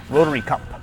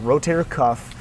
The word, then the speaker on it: rotator cuff: rotation, which stretches the internal rotators of the rotary cuff. It's actually called the rotator cuff muscle group. A lot of people mispronounce it, but rotator cuff, those are four little muscles that they provide